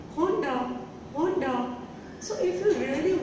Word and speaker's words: Honda: And the next is, yes, most of the people make this mistake also and they say Honda. It is not Honda, it is Honda.